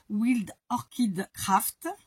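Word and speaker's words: Wild Orchid Craft: B que des fleurs wild orchide craft comme ça se prononce en anglais évidemment wild W i l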